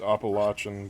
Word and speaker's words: Appalachian: It's pronounced Appalachian, by the way.